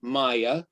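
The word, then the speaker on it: Maija: um my presentation a while back her name is spelled m a i j a maya m a i j a s-a-v-o-l a-i-n-e-n s-a-v-o-l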